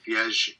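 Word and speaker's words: viagem: Viage.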